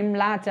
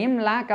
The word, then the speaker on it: Imlach: ஒரு குறிப்பிட வேண்டிய விஷயம் என்னன்னா, அந்த வீடியோவில் நான் ஃப்ரான்சிஸ் புரோடி இம்லாச் அப்படின்னு இந்த இம்லாக் அப்படின்னு சொல்கிறத இம்லாச் அப்படின்னு தவறாக உச்சரிச்சிருக்கேன். அதை இங்கே பதிவு செஞ்சுக்கிறேன். ஃப்ரான்சிஸ் புரோடி இம்லாக் இதுதான் கரெக்டான ப்ரொனவுன்சியேஷன்.